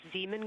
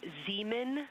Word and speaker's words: Zeeman: Integrity Science, we believe that's Zeeman Crater. Zeeman. Oh, I floated away from the speaker. Say it again, please. We believe that that is Zeeman Crater.